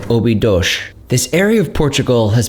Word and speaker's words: Óbidos: After touring the castle both inside and out, we grabbed a taxi back to our car and drove up to Óbidos, or as locals say, Óbidos.